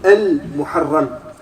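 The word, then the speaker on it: المحرم: Et on prononce Al-Muharram, on ne doit pas dire le mois de Muharram. Il faut rajouter Al-Muharram.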